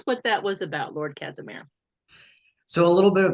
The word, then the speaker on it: Casimir: So tell us what that was about, Lord Casimir. So a little bit of backstory. It's very typical for people to mispronounce my name as cashmere, like the wool or the sweater material.